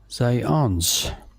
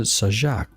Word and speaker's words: Zając: And in this alternate break format, Dominik Zając is the way it's pronounced in Polish, according to Google Translate. I would pronounce it Sajak, but from the spelling.